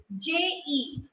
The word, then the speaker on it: je: J-E. J-E in French means I. I. Okay? It is pronounced as je.